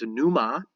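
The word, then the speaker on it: pneuma: from it to breathe a person's breath is Numa spelled with the P n so that's our judeo-christian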